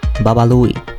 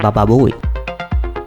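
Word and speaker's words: Baba Looey: his tongue is tied He mistakenly put the character's name Bubble Looey pronounced as Bubble Booey The result was a great commotion This meme is still being brought up.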